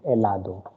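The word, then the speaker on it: helado: of this word is elado okay in spanish letter h exists but it is always silent i mean it is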